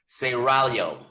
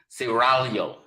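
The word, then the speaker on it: Seraglio: it was called the guardian of saragalo saragalo pronounce it cerralio gotta roll the tongue excuse me siralio that's the original name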